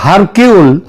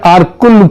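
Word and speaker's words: Hercule: আঘাতা কৃষ্টির যে গোয়েন্দা আরকুল পোয়ারো তার তত্ত্ব অনুযায়ী আগাতা কৃষ্টি এবং তার গোয়েন্দা আরকুল পোয়ারো এটা যদিও ওই উচ্চার উচ্চারণে এটা হয় হারকিউল কিন্তু একচুয়ালি উচ্চারণটা হচ্ছে আরকুল পোয়ারো তিনি যদি আজ বেঁচে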